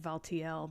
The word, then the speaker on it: Valtiel: because Valtil, I guess that's a legitimate pronunciation. I always said Valtiel, but got all that exposition.